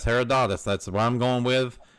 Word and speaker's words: Herodotus: That would be I'm gonna try to pronounce this right. Herodotus. A that's H E R O D O T T U S. Herodotus.